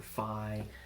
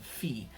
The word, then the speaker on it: phi: numbers like PI or fie fie I spend a degree in college it's actually pronounced P and fee okay PI and Phi